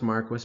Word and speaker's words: Marquis: So Don Marquis, it is pronounced Marquis, by the way, it's kind of weird, claims that most abortions are permissible.